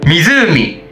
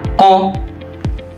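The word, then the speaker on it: 湖: Tapi cara bacanya berbeda dan ada dua arti, yaitu kunyominya adalah mizulmi dan onyominya itu adalah ko.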